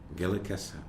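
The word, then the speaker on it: Gilakas'la: In Kwakwala, it's Gaelicasla. Gilikasa.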